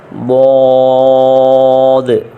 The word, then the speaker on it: ضاد: زا، سین، شین، صاد۔ صاد اور ضاد کو پڑھتے ہوئے سپیلنگ میں جو آخری دال ہے اس پہ حرکت آئے گی: صاد، ضاد، طا ظا عین۔ یہ